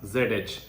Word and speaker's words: zh: so how to pronounce zh okay so the rule is saying that you have to pronounce zh just like you pronounce the the dge part of Judge okay the dge part